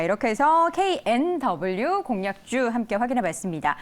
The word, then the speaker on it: KNW: 대표의 종목부터 확인해 보시죠 knw 보도록 하겠습니다 kmw 아닙니다 knw이 종목은 보니까 다양한 분야에도 연결돼 있어요네 어 발음 잘하셔야 되죠 nw 감사합니다 아이가 아니고 이런 비슷하게 회사들이